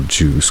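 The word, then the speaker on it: Juise: My great uncle Juice, spelled with a ju u i s e but pronounced like juice also lived there and he was really old about 80 probably.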